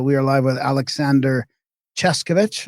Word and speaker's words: Czeszkiewicz: So we are live with Aleksander Czeszkiewicz. I think that's how you say it, right? Czeszkiewicz. Yeah, Czeszkiewicz.